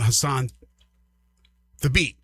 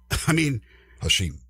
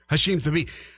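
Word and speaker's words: Hashim Thabeet: And obviously, with UConn, there was the guy named Hassan Thabit. Hashim. I knew I said it wrong. I'm trying to forget. Hashim Thabit.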